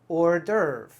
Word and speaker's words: hors d'oeuvre: dovera something like that actually completely different as usual we say hors d'oeuvre hors d'oeuvre or durv that s in the middle we don't even say it hors d'oeuvre an hors